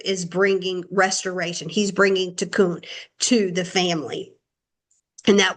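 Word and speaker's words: תיקון: He's bringing tikkun to the family. And that word restoration is tikkun. And tikkun is spelled tav kaf or kuf, tav kuf nun,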